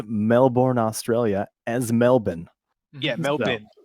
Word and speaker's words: Melbourne: pronounce Melbourne, Australia as Melbourne. Yeah, So, Melbourne. it's Melbourne. There's no born.